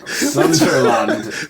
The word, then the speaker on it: Sunderland: Sunderland. Bournemouth, Sunderland. What's going on, JP? How do you say it? Sunderland. Sunderland. Okay. It's like, for me, it's like Disneyland, Sunderland.